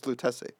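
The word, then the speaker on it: Lutèce: And then I was like, "I have no idea how to pronounce it." He's like, "It's Lutece."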